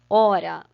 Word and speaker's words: hora: hora tão vendo aqui hora h o r a se escreve com h mas o h i não tá fazendo papel de absolutamente nada perceberam que é como se ele não existisse tanto faz escrever hora com h como 100h que vai